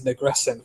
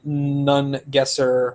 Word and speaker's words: Nungesser: I keep wanting to say his name is Negresson for some reason. Paul Nungesser and Emma Sulkowicz were involved for some amount of time.